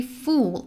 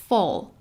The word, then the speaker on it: full: See, I don't say fool, I say fall.